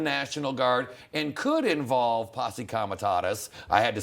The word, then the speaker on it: Posse Comitatus: That's different than the National Guard and could involve Posse Comitatus.